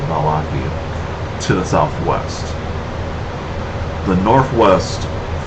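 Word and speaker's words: Vallaki: One is Barovia village to the east, Sarpool to the northwest, and Ravenloft, and there's also another location, Valaki, I think that's how I pronounce it, Valaki, to the southwest.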